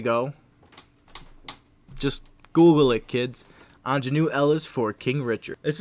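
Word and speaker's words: Aunjanue: woman's name and i do very much apologize pronunciation ingenue ls there we go just google it kids anjanu ellis for king richard this is a tough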